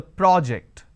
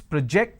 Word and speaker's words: project: So, when I am stressing on the first syllable, it becomes a noun. That means, please submit the project. I say project. This is project. Here I say, please project the presentation.